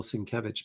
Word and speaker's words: Sienkiewicz: But I am I do know that it's Bill Sinkevich because he said so and I take him at his word.